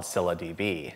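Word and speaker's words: ScyllaDB: eyes set on another database years ago called Cilla DB and yes that's actually how it's pronounced here come here with me cylindb is a high performance nosql database yup I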